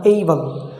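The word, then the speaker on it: able: ওকে, এবল না এইবল, jealous না জেইলাস।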